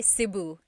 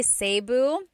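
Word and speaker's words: Cebu: it seu or SIU so technically in the talug alphabet the letter e can be pronounced e or E like the letter I so I say SIU SIU and I know some people say seu but usually it's either SIU or sebu good question all right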